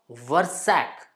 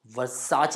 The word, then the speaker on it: Versace: is the correct one same way it's not versac but Versace is the right pronunciation for it I just mean to say